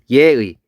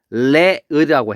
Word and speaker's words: 예의: 또 하나는 뭐가 있냐면 예의. 얘 원래 발음하면 레의라고 해야 돼요. 그죠? 너무 어렵죠? 야, 너 정말 어른한테 레의가 없네 이렇게 하면 발음하기 어렵잖아요. 그죠?